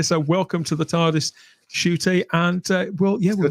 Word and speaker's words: Ncuti: at it but that's how we how we pronounce it so welcome to the tardis shooty and uh well yeah we'll talk with more